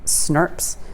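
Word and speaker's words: snRNPs: ribonucleoprotein particles that are abbreviated as snart's and literally pronounced like that and about 80 proteins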